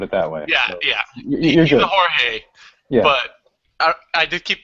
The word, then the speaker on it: Jorge: I gotta say too that MMA has totally ruined me for pronouncing Jorge correctly because of the whole like Brazilian Spanish thing. No, this dude is he's very, very Mexican, put it that way.